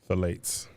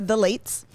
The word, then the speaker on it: phthalates: formulated without parabens sulfates or phthalates how you pronounce this phthalates the late folates i think you're right okay their products are formulated without paraben sulfates or the lates thrive cosmetics never tested on animals they're 100